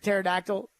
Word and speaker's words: pterodactyl: I'm guessing that's pterodactyl. Pterodactyls spelled with a P.